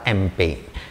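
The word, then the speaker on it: Impey: वे हैं sir Elijah एम्पे। कई जगह पे किताबों में एलिजाह एम्पे भी लिखा है, ये प्रोनाउंसिएशन की थोड़ी सी मिस्टेक बोल सकते हैं आप।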